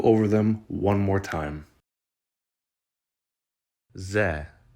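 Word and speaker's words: З: the English letter Z or Zed it is pronounced as za za the next letter doesn't really look like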